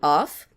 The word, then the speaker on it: of: aqui os dois povos off você já ouviu mas se você não ouviu esse cara aqui ele não tem chão df no fim ele tem som de ver então esse cara a